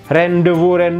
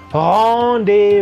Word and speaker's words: rendez-vous: Daniel a segment nih Bacanya jangan rendow rendez-vous Waduh bacanya Bagaimana bacanya lah honde wonderful kombinasi n disini Berlaku tidak seperti di sini ya ini berlaku berbunyi Om ke bawah ya kemudian akhirat Z